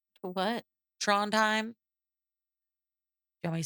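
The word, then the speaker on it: Trondheim: And Nelson says that they were in international waters on their way to Tronheim. What? Tronheim. You want me to spell it for you?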